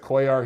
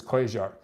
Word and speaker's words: Cuellar: first and second round I know everyone pronounces at Cuellar here but the guys from Argentina and everyone I've ever talked to from Argentina says the Ailes is quasar anyway so another lackluster card